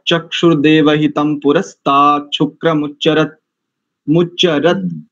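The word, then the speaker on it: देवहितम्: प्रथम जो है ना त चुर देव हितम यहां पर मकार उच्चारण करेंगे क्योंकि आगे पकार है जी ठीक है देव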